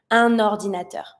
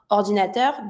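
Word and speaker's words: un ordinateur: If my word starts with a vowel, I'm just going to connect it and pronounce it straight away. Anordinator. I'm not going to try to dissociate those two by saying orinator. The goal is to link it as much as possible. Anordinator.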